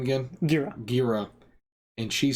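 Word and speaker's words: Ghira: Gira. And she said, no, he's a hero. Instead of letting him say, you know, this is wrong. And it was a corrective error. Yeah. Well, I'm saying, but Gira was trying to like correct him, like, this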